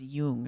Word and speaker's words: Jung: Oh, it's Yung. It's not.